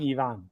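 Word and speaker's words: Evan: Yeah, he actually does pronounce his name Yvonne.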